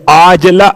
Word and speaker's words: عاجلہ: ایسی نیند کے عاجلہ، وہ جو آپ کہتے ہیں معجل اور معجل عین کے ساتھ، یہ عاجلہ عین سے ہے. ہو سکتا ہے میرے تلفظ میں آپ کو واضح نہ ہوا ہو، اس لیے میں نے کھول دیا.